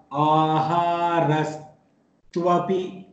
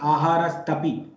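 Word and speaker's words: āhāras tv api: Aharas tvapi. Aharaha tu api. Aharas tvapi. So tvapi, it is not aharas tapi, it is aharas tvapi. Aharas tvapi. This is the pronunciation which is required there.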